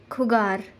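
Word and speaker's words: jugar: Second, J is always pronounced as kha. For example, khugar.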